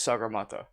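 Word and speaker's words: Sagarmatha: weren't bothered to pronounce sakamata i wish i was joking so the local the local nepali name for mount everest is sagar mata but george everest was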